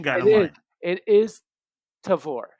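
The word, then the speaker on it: Tavour: it up online oh so there's there's a pronunciation guide it is tavor tavore okay flavor and or taste and flavor all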